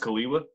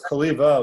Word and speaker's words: Cholewa: Is it pronounced Kaliwa? Very close. Kaliva with a V.